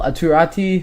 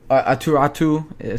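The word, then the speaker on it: Aatu: in their Prospect pool atati who is atatu sorry that's how you pronounce his name um he's been really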